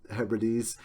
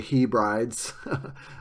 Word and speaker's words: Hebrides: And please pronounce it Hebrides. Don't say Hebrides, as some people do. That's like pronouncing hyperbole as hyperbole.